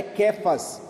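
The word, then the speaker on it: Cefas: aramaico é cfas tá apesar de tá com c mas a pronúncia é cfas no aramaico que que é que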